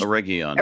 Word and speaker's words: Eregion: Eregion is the way I said it, yeah. Thank you. Oh my It's always a hard G.